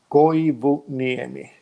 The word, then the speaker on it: Koivuniemi: going book near me so it's how you write it it's exactly yeah you pronounce it all the eyes and ears like Spanish if somebody knows Spanish it's not it's just announced every letter in like in Finland you always pronounce every little letter okay then comes as